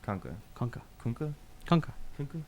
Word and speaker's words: Kunka: Pronounced like skunk, minus the S. And an at the end. Kunka.